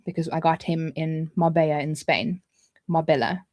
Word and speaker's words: Marbella: I got him in Marbella in Spain. Marbella. It's spelt Marbella, but it's pronounced Marbella.